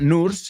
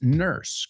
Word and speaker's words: nurse: But and the pronunciation is not nurse, it's nurse, como si fuera una E ahí en vez de una U.